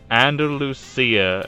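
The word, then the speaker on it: Andalucía: Andalucia.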